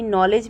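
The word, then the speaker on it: knowledge: लेकिन हम बोलते हैं नी ओनली वैसे ही नॉलेज में हम के को छोड़ देते हैं हम उसको प्रोनाउंस नहीं करते अब यहां पे आप देखिए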